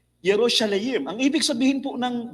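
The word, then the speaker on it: ירושלים: Now in the Hebrew word Jerusalem ang pronunciation niya ay Yerosalim. Yerosalayim.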